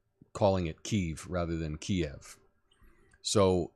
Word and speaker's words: Kiev: I say Kiev, not Kyiv, not Kyiv. Yeah. When that came about, that was because Kiev is the Russian pronunciation of the capital city, and Kyiv is the Ukrainian pronunciation of their capital.